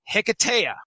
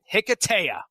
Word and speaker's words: Hiketeia: Wonder Woman Hiketeia. All right? Hiketeia. So that's just for me. You guys pronounce it whatever you want.